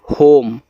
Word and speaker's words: home: HOME, होम, तो एच से आपका हा, ओ से ओ की मात्रा हो, यम के बाद ई है तो केवल यम से मा ही पढ़ना, ई का उच्चारण नहीं होता।